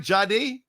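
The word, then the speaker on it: Jahdae: took one of Hogan's guys, a Texas Longhorn, Jadi Baron. Did I pronounce it right? Jadi.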